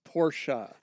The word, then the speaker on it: Porsche: son of a PS it's pronounced Porsche bonus Point damn bonus Cody thought of everything